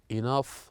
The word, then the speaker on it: enough: and here we have the word enough laugh tough that ends with GH they pronounced as the F sound and after this to